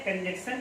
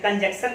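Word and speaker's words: conjunction: एक है कंजक्शन जो लिखा हुआ है, इसमें यन लिखा हुआ है, और जो हम गलती से इसको हम प्रोनाउंसिएट करते हैं तो यन को हम छुपा लेते हैं, कंजक्शन कहते हैं। कंजक्शन कहना, हम इसको प्रॉपर में क्या कहेंगे, कंजंक्शन कहेंगे।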